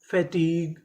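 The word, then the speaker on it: fatigue: FA फै, TIT fatty, GUE गा, फैटीग, फैटीग। तो चारों मीनिंग क्या बनी? Monologue, कैटेलॉग, colleague, फैटीग। तो हमारा नियम क्या था? अगर आपको आखिरी में GUE लिखा मिले तो उसे क्या पढ़ना है? गा।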